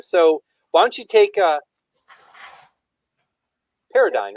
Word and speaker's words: paradigm: it's spelled it's one of those weird words with the G silent, so Yep.